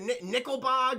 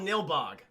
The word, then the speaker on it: Nilbog: How do you say the town? Is it Nickelbog or Nigbog? It's very odd. I don't know why they have a K in there. No, it's called Nilbog. That's what it's called, Nilbog.